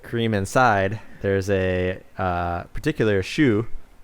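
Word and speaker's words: choux: inside there's a particular shoe c h o u x is how you spell it but pronounce like shoe like on your foot again very european bass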